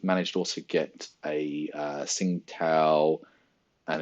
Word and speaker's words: Tsingtao: You've got like Tsingtao or Qingtao, depends where you go. When I went China, everyone would tell me it was Tsingtao, but it depends where you are in the pronunciation.